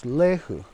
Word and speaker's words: lehu: And in our Hopi pronunciation for the Indian rice grass, we pronounce this plant as lehu.